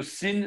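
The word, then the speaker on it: שׂ: Alors, l'autre, c'était Yemalit, celui-là sera un Shin, plutôt Sin Smalit. Shin de gauche se prononce comme notre S.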